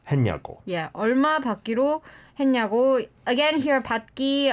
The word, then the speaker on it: 받기: Yeah, 얼마 받기로 했냐고. Again, here 받기. You might think that you pronounce it as 받기, but it's pronounced as 받기 because 받기. there's a last consonant in front of 기.